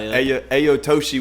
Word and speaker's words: Ayato-Shi: a local up and cominging artist I got Aya aoshi with me did I say it right yeah